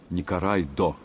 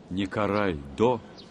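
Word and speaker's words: ニコライ堂: знали в токио по собору который японцы называли не карай да и звук л они не произносят не карай до занимался издательской просветительской педагогической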